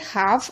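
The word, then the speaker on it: half: ठीक है, इसी तरीके से एल के बाद एफ आ रहा है, यानी एफ से पहले एल है तो एल साइलेंट है। हाफ, आपने देखा भी होगा,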